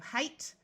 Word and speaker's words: height: Note that GH will be silent in these words, just like it is in most English words. So we have height, slight.